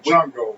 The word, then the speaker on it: Shango: So like you guys call him Shango. That's how it's pronounced. Yeah, y'all call him Chango. Yeah, we call him Chango or Shango. We throw like a little Spanish flair on it.